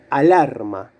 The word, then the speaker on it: alarma: ¿Cuál de las sílabas suena más fuerte? Alarma, lar. Bueno, alarma es un sustantivo femenino. ¿Empieza por A fuerte? No, porque la sílaba fuerte es la del medio, lar, alarma.